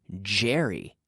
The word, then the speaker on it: Jerry: we're not saying Yeti we don't say Ben and Yeti no no Ben and Jerry Ben and Jerry's cherry ice cream we can say Ben and Jerry's cherry ice cream Jerry Jerry so it's a vocalized CH and this is similar